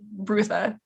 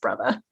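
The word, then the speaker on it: Brutha: I would have said Rutha like that's how I would have read it but there's that one specific line that makes me think it's pronounced brother okay well it's spelled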